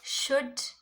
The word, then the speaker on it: should: Should, L silent.